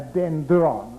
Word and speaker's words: dendron: So now I'm going to call this unit, which is for reception, made up of dendrites, a dendron. I don't have anything to write with, but I'll spell it, D-E-N-D-R-O-N, dendron.